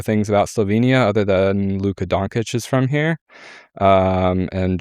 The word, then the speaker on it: Dončić: We'll work on the pronunciation of Luka Dončić. Dončić.